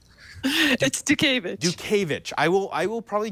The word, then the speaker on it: Dutkiewicz: gentlemen it is Sara do kovitch I probably did not say her last name correctly but she's gonna correct me Sara what is the proper pronunciation of your name Duke Ava CH I will I will